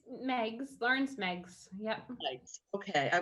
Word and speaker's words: Meigs: house actually and lawrence leagues did i pronounce that right it's meg's lauren's megs yep okay i was giving it